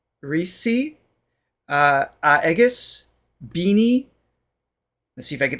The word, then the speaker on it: Bini: sound B oh no the I is an e shame on me I've